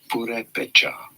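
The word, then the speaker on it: Purépecha: Purepecha.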